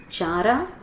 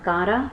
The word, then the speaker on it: Chara: by green sulfur bacteria, Chara, Nostoc and Cycas. Chara is algae, and all the algae produce oxygen during the photosynthesis. So here the chara or kara both are pronounced, but chara, it is algae, so its photosynthesis produces oxygen.